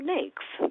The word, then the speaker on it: NAICS: So "NAICS", it rhymes with "snakes", and it is an acronym for the "North American Industry Classification System".